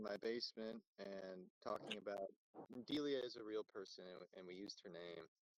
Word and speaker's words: Delia: Yes, Delia is how you pronounce it.